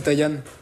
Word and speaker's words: Taïan: Et moi, c'est Taïan. Ça s'écrit avec un A, mais ça se prononce pas, tu sais, c'est un prénom malgache, on m'a volé mes gâteaux.